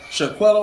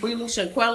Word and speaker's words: Shanquella: No, So y'all are talking about, and I'm gonna say her name wrong. Shaquella Robinson, is that how you say it? Shaquella? I believe Shaquilla? Shanquella.